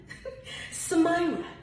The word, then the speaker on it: Samyra: Samyra.